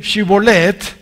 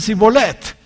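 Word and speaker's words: שיבולת: Ellos, por decir Shibolet, que significa arroyo, decían Sibolet, que significa carga.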